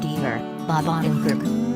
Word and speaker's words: Deavor: a well-placed supporter Winston Deaver Wendie vermin rhymes with endeavor and his sister Evelyn Catherine Keener rung a major company called Dec and he brings mr.